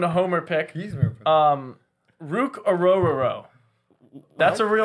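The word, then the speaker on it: Orhorhoro: h o r o that's actually how you pronounce it aoro AO sounds like a mouthful but he's uh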